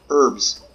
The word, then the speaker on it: herbs: herbs listen to me so American herbs for her of course I say that I don't know how I know uh to battle in Britain they pronounce their H is a little bit different what is this high level 70.